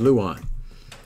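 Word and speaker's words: lauan: the dictionary and in the American pronunciation is Luan which doesn't make sense to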